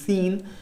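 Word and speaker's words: Seine: that is your s-e-i-n-e please don't get confused with the pronunciation it is seen so it is not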